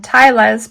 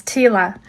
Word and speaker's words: tila: I used to call them tailas, but I realized the other day after doing a Google search that the the pronunciation is tila.